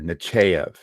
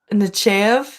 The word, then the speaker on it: Nechayev: that with me because I pronounce it different than I'll ever, just about everybody else does. I put a very hard AY in there, Nechayev. Nechev. But some people don't say that.